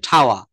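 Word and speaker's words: tower: টাওয়ারকে বলা হচ্ছে ঠাওয়া, ঠাওয়া।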